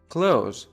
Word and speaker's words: clothes: Close, close, close. دقت کنید این کلمه خیلی ساده شبیه فعل close به معنی بستن تلفظ میشه و تلفظ چندان سختی در لهجه امریکن نداره.